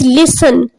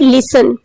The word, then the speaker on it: listen: Next is listen. T is silent here. Okay. T is silent in the word listen.